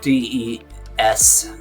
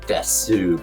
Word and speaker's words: desu: And so des, D-E-S, in Japanese they put desu, but it's pronounced des.